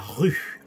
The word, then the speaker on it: rue: Vous traversez la rue. Sonido U, U. Practica, practica. Rue. Los labios cerrados y como que soplas.